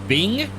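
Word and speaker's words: Byng: Over on the left there is Mount Bing. Microsoft will be happy. Plug for Bing, even though it's spelled B-Y-N-G.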